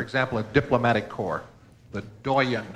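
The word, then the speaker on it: doyenne: a diplomatic core the Doan this must come from French considering the last pronunciation French cuz this one's as good as spelled Doan or D h d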